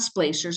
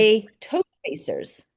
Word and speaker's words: splay toe spacers: I think I'm saying it wrong. It's not splacers. I always call them. What is Splay toe spacers.